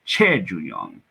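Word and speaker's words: 최준용: Choi Ju-young or Che Ju-young. So if you pronounce it in Korean.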